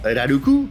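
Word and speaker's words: ラルク: à l'arc en ciel qu'on appelle plus communément elle a le cou prononciation japonaise de l'arc est un goût mais au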